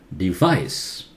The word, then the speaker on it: device: Device. Vice louder. V. Remember? Upper teeth must bite the lower lip. V. Device.